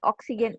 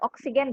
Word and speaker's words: oxygen: Now, one correction untuk pengucapan oxygen, not oxygen, but oxygen.